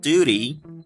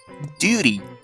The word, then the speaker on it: duty: When we take the word duty, in Great Britain, this word can be pronounced with a y sound, but it's also commonly pronounced with a j sound. This change from y to j is called yod coalescence. Now listen to this. Duty, Duty, or we can even say duty.